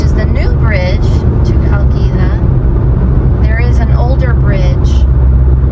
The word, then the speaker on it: Chalkida: We are getting much closer to Chalkida.